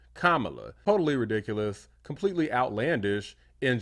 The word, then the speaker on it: Kamala: representative of South Carolina mispronounced Kam Harris's name so she's calling her Kamala rather than Kamala totally ridiculous completely outlandish